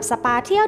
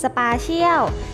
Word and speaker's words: Spatial: เร็ว มาก ยิ่ง ขึ้น หลาย คน อาจ จะ ยัง สงสัย เจ้า คำ นี้ อ่าน ว่า ยัง ไง กัน แน่ นะ ทั้ง Special สปา เชี่ยว แต่ ใน คลิป นี้ ขอ อ่าน ว่า สปา เที่ยว นะ คะ สภา เที่ยว ดอท ไอโอ